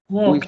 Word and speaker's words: walked: Walked. We say walked. After K, ED, you say it T.